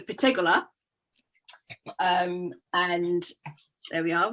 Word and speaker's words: Pettegola: so italians always put the emphasis on the last uh the last syllable so it's the patagola um and there we